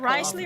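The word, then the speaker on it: Wriothesley: he doesn't care about something then he they pronounce it Risley or Worley de with it right is that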